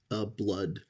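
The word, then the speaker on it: Blud: I'm gonna say his name is Blood, spelled B-L-U-D.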